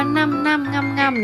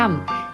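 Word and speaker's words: Ñam Ñam: นี้ ด้วย ค่ะ ตอน แรก พวก เรา ก็ อ่าน ชื่อ ร้าน กัน ว่า นั่น ๆ ๆ นะ คะ แต่ จริง ๆ มัน อ่าน ว่า ยำ ๆ ที่ แปล ว่า อร่อย ใน ภาษา สเปน ค่ะ ก็ เหมือน ยัมมี่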